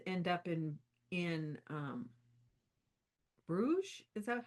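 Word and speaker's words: Bruges: Um because I thought it was interesting that Baldwin and Judith end up in in um Bruge. Is that how you pronounce it?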